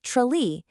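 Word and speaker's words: Tralee: And finally, the tidiest large urban center, Trili, pronounced Trale, in County Kerry.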